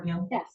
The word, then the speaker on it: Gilly: Lee, uh, do we pronounce his last name Gilly or Gill? Yes, Gilly.